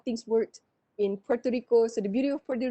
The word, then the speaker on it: Puerto Rico: It's not Puerto, it's Puerto Rico. It's a rhotic R. You have to stress the R.